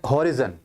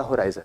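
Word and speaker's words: horizon: Pinnacle, ये word अक्सर students इसको प्रोनाउंस करते हैं होराइजन, हॉरिजन, लेकिन होता होराइजन है। हॉरिजन नहीं, होराइजन, जेनिथ।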